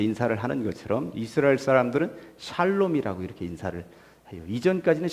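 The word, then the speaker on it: שלום: 사람들은 안녕하세요 이렇게 인사를 하는 것처럼 이스라엘 사람들은 살롬 이라고 이렇게 인사를 이전까지는 샬롬 이었읍니다 그런데 이 성경책이 개역 개정판 으로 나오면서부터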